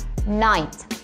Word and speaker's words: night: Inggrisnya malam Nah ini kan tulisannya night itu gh-nya kalau saya dibaca ya teman-teman jadi langsung aja nice atau contoh lainnya bahasa